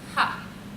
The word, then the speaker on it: ha: prefix which is just a little letter A if you remember your k so that's pronounced ha so let's put them all